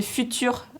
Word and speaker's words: Futu.re: Juste, ils ont demandé de quel livre je parlais, donc c'était Futur. Et ça s'écrit FUTU.RE. Voilà, c'est juste le petit truc.